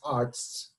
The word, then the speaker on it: Artz: I you know like I just joked with Matt about the German pronunciation just Arts you know so now